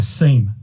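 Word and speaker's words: SIEM: and event management solution or a seam or a sim depending on how you say it you've also got as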